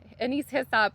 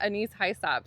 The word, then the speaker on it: Anise Hyssop: was my Anise Hyssop, which I was pronouncing wrong this whole time. Thank you so much to whoever called me out in my last video. It's Anise Hyssop, not Anise Hyssop, so I appreciate it.